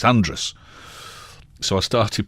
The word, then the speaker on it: Andreas: Radio, corrected me once and said, it's not Andreas, it's Andrus. So I started pronouncing it Andrus, and then people from Andrus got in touch and said, no, that's not how you do it.